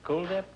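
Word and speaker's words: Kuldip: Is that the way you pronounce it? Cool Dip? Yes, it is like the word cool. Yeah, well, I had that this morning in my swimming pool.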